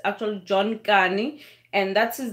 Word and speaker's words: Kani: That's Kani. It's actually John Kani, and that's his name, and he's actually South African, and he speaks Xhosa.